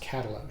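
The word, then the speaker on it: Katalox: wood called catalo uh k a t a l o x pronounced catalog and that wood can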